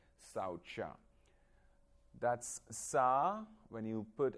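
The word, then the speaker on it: śauca: so we're gonna discuss the first one called saucha that's sa when you put a dash down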